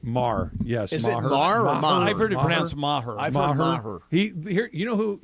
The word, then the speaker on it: Maher: kicker for the Rams is Brent Maher right Mar yes he you know who you pronounce it he missed five Pats in the